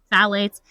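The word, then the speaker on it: phthalates: So the sec number two is called phalates. That's spelled p h t h a l a t e s. phalates.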